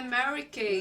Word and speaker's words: Mary Kay: Então, Mary porque é português, mas é Mary Kay.